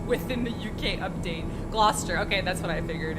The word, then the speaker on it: Gloucester: This whole stream is teaching Em how to pronounce all of these names within the UK update. Gloucester.